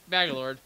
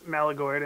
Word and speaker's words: Malagord: Or no, that's Sarnax, Magalord. I got you backwards. My bad. I like to be respectful of people's names. I just want to point out it's Malagord and not Magalord.